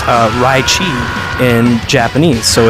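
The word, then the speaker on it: ライチ: japanese name for the leichi fruit which is pronounced uh raichi in japanese so it's kind of you flip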